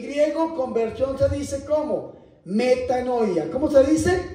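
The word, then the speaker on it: μετάνοια: Metanoia. ¿Cómo se dice? Metanoia.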